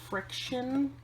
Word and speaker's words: Frixion: And so one thing I did was I went on Amazon and I bought the Pilot Friction. And Friction is, they spell it Frixion.